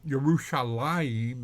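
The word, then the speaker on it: ירושלים: as if the ODE were still there so yerushalaim is still pronounced the same even though the ODE is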